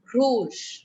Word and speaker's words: rouge: like that so what it is it's through rouge clear what are the colors of the french